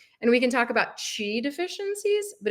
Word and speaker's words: Qi: system is your Chi so it's spelled Qi and it's pronounced Chi and it basically translates